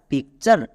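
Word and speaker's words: picture: যেমন পি আই C pick plus T ইউ আর ই চার পিকচার আমরা যদি এরকম নিয়ম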